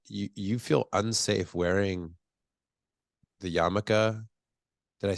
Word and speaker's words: yarmulke: I'm shocked, honestly, that you feel unsafe wearing the yarmulke.